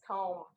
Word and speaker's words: comb: And then the last one is comb, where the B is silent.